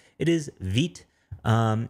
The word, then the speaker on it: Vite: dot vtjs.vitejs.dev and yes veet is how you say it uh they tell you the pronunciation in here saying it's the french word for fast pronounced forward slash v i t slash um which honestly